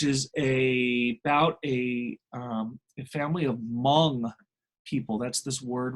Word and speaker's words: Hmong: about a family of Hmong people. That's this word right here. You kind of don't pronounce the H.